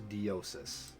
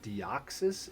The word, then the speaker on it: Deoxys: no idea why um his name is diosis and it's Deoxys in our game I guess her dios diosis the X with the pronounces the Z I'm just going to